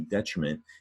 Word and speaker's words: detriment: Detriment is the bottom word, 3-syllable word. Up top is deterrent, right? There's the difference in the red stressed syllable.